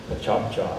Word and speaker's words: PechaKucha: PechaKucha.